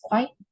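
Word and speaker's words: 快: It also symbolizes a wish for the newlywed to have a child soon, because the Chinese pronunciation for quick is kuai, and the Chinese pronunciation for child is zi.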